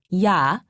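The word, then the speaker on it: ㅑ: Imagine that you are trying to say e and a very fast. Be sure not to pause in between pronouncing the two sounds.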